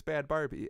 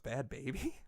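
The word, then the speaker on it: Bhad Bhabie: So I was like, it's Bad Barbie. And then I heard an interview with her, and I was like, oh, it's Bad Baby with an H?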